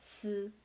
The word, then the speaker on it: 死: So the 4th tone for the number 4, and then the 3rd tone for the word death. Even though the pinyin is si and it's all pronounced 死.